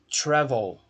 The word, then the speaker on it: travel: No primeiro exemplo, travel. A sílaba tônica é a primeira. Tra.